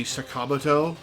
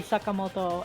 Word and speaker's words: Sakamoto: just hop on uh like ryuji sakam is not how you would pronounce his name in Japanese I think it's not the most incorrect it's like Sakamoto it would be Sakamoto I think so that's that's